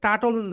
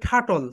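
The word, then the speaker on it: turtle: Okay, next word, the next one ইজ, দেখো, এটাকে আমরা সবাই টাটল বলি না কি যেন, কচ্ছপের ইংরেজি রাইট প্রোনাউন্সিয়েশন হবে ঠাটল, সবাই বলো ঠাটল, ঠাটল, ঠাটল।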